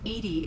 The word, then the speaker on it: EDI: are you named edie edie is the phonetic pronunciation of edi that is an acronym for enhanced defense intelligence how are you getting